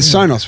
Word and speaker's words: Sonos: The Sonos one. Is that how you say it? The Sonos one.